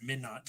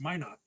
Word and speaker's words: Minot: I'm sitting here pronouncing it Minot. It's Minot.